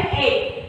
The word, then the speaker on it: MA: यहाँ भले M लिखा हुआ लेकिन इसका प्रोनाउंसिएशन क्या होता है? MA, यानी A से स्टार्ट होता है.